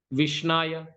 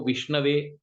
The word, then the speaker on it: विष्णवे: जो मूर्ख व्यक्ति है वो विष्णाय बोलता है, जो पढ़ा लिखा व्यक्ति है वो विष्णवे राइट प्रोनाउंसिएशन करता है।